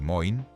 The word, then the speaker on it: Moen: En una década, fabricantes como Washburn y Moen, pronunciado Washburn y Moin, más tarde absorbidos por United States Steel, están comercializando agresivamente cercas de alambre a ferrocarriles y ganaderos.